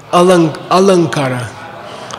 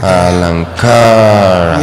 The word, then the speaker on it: Alankara: By the way, in Sanskrit poetics, the long A has 2 beats also. Okay. En la poesía sánscrita la A larga tiene 2. So that will help you to beats. pronounce it correctly. Eso te va a ayudar a pronunciarlo correctamente. Alankara. Okay. Alankara. Yeah, and then it's a real long A.